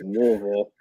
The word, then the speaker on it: Louisville: that you like is um I'm going to pronounce it correctly. I get the flame in my throat here, but it's Louisville.